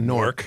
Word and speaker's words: Newark: with uh that's a norc it rhymes with cork pork uh Philip Roth is